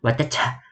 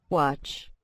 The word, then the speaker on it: watch: Kalau di bahasa Indonesia bacanya pasti watecah, watecah gitu ya. Nah, namun dalam bahasa Inggris pengucapannya tentu beda. Nah, seperti apa? Kita dengarkan ya melalui mengklik simbol speaker ini. Kita simak ya, kita klik Watch. watch. Nah, ini W atau wah, A-nya panjang sama C-H. Jadi bacanya watch.